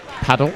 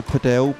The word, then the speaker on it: padel: in the country for paddle or padel however you decide to pronounce it can we stick to padel because paddle in America is a complet different discipline and it's now known